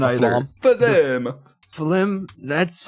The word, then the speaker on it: phloem: The phlegm. I'm not confident with my pronunciation either. Phloem.